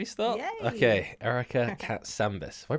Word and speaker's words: Katsambis: Okay, Erica Katsambis. Have I pronounced that right?